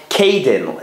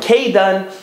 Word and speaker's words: Kaidan: they lived in a city in Lithuania called Kaidan. It's spelled in English like K-A-I-D-A-N.